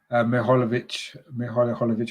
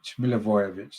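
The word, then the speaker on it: Milivojević: It's going to be Mihajlovic, whoever you say his name. The captain, he's hobbling off, actually. He's got a bit of an injury. And that's why they've made that substitution, in actual fact. Milivojevic, that's how you say it.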